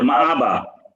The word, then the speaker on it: مآبا: আইন উচ্চারণ করে হচ্ছে মাআবা আইন না কিন্তু এটা আইন না হামজা বলবো না মাআবা বলবো হামজা বলবে মাআবা তুই বলে ফেলতেছি একটু গলার ভিতর থেকে আসতেছে মাআবা।